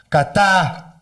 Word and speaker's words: Qatar: And then Qatar.